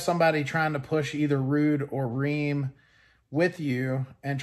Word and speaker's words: Ruud: know the rheem or rude brands and it is pronounced rude by the way uh if you say